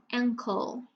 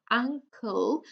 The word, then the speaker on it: ankle: If you pronounce a, uncle, that's a family member. Okay, your aunt and uncle. The body part is not an a, it's an e. Ankle, ankle, okay?